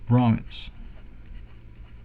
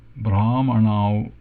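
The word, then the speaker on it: ब्राह्मण: Krishnaha Panditaha cha Brahmanau staha. So we have transliteration here. Krishna retroflex N, retroflex D, but dental T, and Visarga. Panditaha cha long A bra me not Brahmin but Brahman man, retroflex N au staha.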